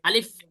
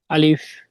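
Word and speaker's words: ألف: আরেকটু স্ট্যান্ডার্ড হবে। উচ্চারণ স্পষ্ট হবে আলিফ আলিফ মাশাল্লাহ এইতো হয়ে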